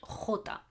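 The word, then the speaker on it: jota: one letter j which in spanish is called hota okay i'll say again so you can tell already what the sound of this letter is it's a guttural sound i do with my throat okay we'll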